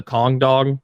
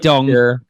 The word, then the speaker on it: Kong Dog: Like Yeah, he said dong. You just mispronounced that the first time you said it, which I think a lot of people are going to do.